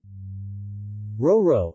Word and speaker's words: Roero: RORO Italian pronunciation ro ro P Monte's ro a re